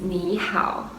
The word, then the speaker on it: 你好: Okay, follow my pronunciation is ni hao.